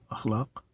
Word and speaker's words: اخلاق: نام نہیں ہو سکتا۔ تو اخلاق درست تلفظ ہے۔